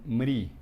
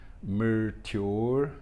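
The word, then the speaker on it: मृत्योर्: Os indianos hoje em dia eles falam Mri, né? Por isso que em vez de falar Krishna, eles falam Krishna, mas está errado, né? Não é assim que se pronuncia. O certo é pronunciar Mer, né?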